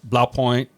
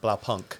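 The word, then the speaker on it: Blaupunkt: all the 50s like blow point or I'll probably say that a couple times say it wrong blow Punk blow Punk yeah um but yeah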